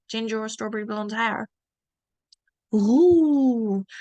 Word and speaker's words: roux: Roux. Look, the X, you don't pronounce that X. It's roux.